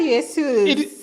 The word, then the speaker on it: Jesus: It's a It's a Brazilian name.